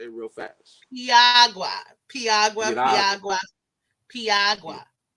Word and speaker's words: piragua: if it's one R, say it like a D, and you got it. You got it. So if it's piragua, say piragua, piragua, piragua, piragua, piragua. Say it real fast. Piagua, Piagua, Piragua, Piagua, Piagua, piragua.